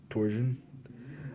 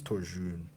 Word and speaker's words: Torjun: You're quite handsome, Torsion. I say, stirring my coffee. She always says his name wrong, so I'm gonna say his name wrong. It's Torjun, but she like always fucks his name up.